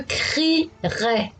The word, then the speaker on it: crierai: Le souci pour les élèves est de ne pas oublier le E, parce qu'on ne le prononce pas, il est muet.